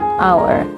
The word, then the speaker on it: hour: the start of word like like Hus and hour and sometimes the letter H is not pronounced When it follows any of these three